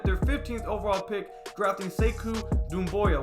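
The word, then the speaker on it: Sekou Doumbouya: 15th overall pick graphing say ku noon Boyle which I hope I'm saying correctly to the family I said it wrong on the podcast last week but say CUDA Moya he's 69 extremely long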